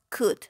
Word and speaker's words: could: veamos cómo se pronuncia para la forma afirmativa decimos club no pronunciamos la l para la forma negativa